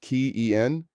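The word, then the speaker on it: quién: Who is Quen pronounced keyen? The accent mark indicates that stress falls on the second syllable.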